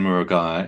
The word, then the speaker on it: Murugiah: So my name is uh Muraga if you're interested in pronouncing my surname.